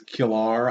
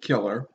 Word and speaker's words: Killer: That may be some kind of Irish nickname, or maybe it's Killar. I don't know. They pronounce it Killer.